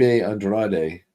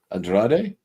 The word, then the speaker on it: Andrade: Uh that name that last name is usually pronounced Andra. Andrade or Yeah. And not according to WWE superstar Andrade. Oh, well, never mind. Ex-husband of Charlotte Flair now. Um, but uh I don't know. That's how they pronounce that.